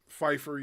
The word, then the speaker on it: Pyfer: in the fight with Israel Adesanya and Joe Pfeiffer. I believe I'm pronouncing his first name right. Pfeiffer, yeah.